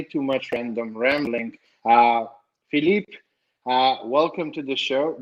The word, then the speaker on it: Philippe: much random rambling uh philippe welcome to the show did they butcher your name and not say it right in in french no it was perfect okay perfect well phillip